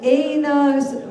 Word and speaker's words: Einars: Please give a hand to Einars Muhayevs from Latvia. I'm so happy we've been pronouncing his name correctly the entire time, wise guy.